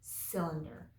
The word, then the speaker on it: cylinder: cylinder makes us sound so it sounds like it begins with an S but it's a soft C cylinder a cylinder has round